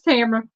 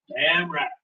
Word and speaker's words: Tamara: Yeah, that's Tamara. Tamara. Yeah. Rhymes with camera.